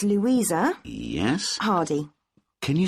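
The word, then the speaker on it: Hardie: yourself ok what's your name it's Louisa yes Hardy can you spell that please yes it's H AR di e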